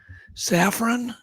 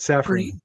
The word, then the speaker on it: Saffron: Um I'm not sure how to pronounce her name. Saffron. That's correct. Saffron.